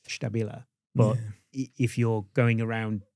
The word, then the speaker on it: STABILA: And I do say to them, well, if you were in our factory, you would say it STABILA.